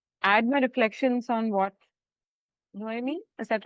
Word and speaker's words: Noemi: Wanted to add my reflections on what Noemi, is that right? Am I pronouncing it right?